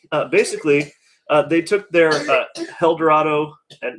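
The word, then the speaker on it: Helldorado: basically they took their eldorado and no i'm not mispronouncing that it's h-e-l-l dorado uh blonde barley wine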